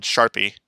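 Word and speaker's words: SHARPpy: this specific uh program which is called sharpie or sharp i depending on your preference for pronunciation if you take a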